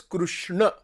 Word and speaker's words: Krishna: Like in Gujarat, people don't say Krishna, they say Krishna. That's a total mispronunciation.